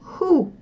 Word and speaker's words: who: но когда тогда читаем потому что и читаем ху кто хуже хум хау давайте вспомним это получается